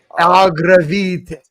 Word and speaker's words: Agravitae: Agravitae.